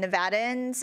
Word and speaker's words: Nevada: in our state so it's um pronounced Nevada in that Nevada so just I just wanted to tell you so that knew so next time you say it you can say it correctly so my committee members